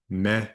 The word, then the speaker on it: med: Me is with. Norwegians and usually sweets too don't pronounce the D at the end there.